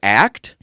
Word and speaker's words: ACT: now the product that haley used was called act if you spell it the hayley way it's a-c-e as she